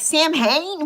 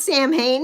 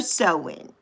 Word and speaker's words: Samhain: So yeah, that I would never get, because I'm like, Sam Hain? What's that? It's not Sam Hain, it's Samhain. Samhain or Sewin.